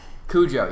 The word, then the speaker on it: Cujo: Is that how you pronounce it? Cujo, yes.